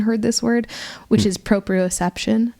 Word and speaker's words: proprioception: it what was the word o p iio proprio c e p t i o n proprioception there you go I like it I